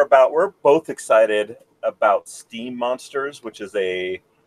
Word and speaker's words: Steem: on the blockchain called steam they like split the same way so it takes like it's it's spelled like esteem esteem like you're going up in esteem in my book or